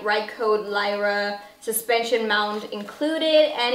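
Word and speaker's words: Røde: is the Videomicro from Rode. It is so weird to me, guys, because it is spelled with an Ö, which is a Danish letter, but everybody pronounces it Rode because they don't have Ö as a letter.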